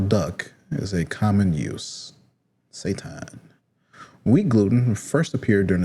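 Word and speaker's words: seitan: So, it's pronounced Satan.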